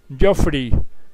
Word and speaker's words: Geoffrey: Su nombre se pronuncia Geoffrey, pero se escribe Geoffrey con doble F para las personas que quieran buscarlo en el internet.